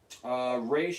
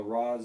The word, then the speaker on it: Ra's: right up their alley raysh is apparently the Chinese pronunciation well Roz is the Middle Eastern pronunciation sometimes nanda parbat in